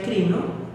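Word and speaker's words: κρίνω: La palabra crítica viene de una palabra griega que se pronuncia crino y que eso a la vez venía de una criba.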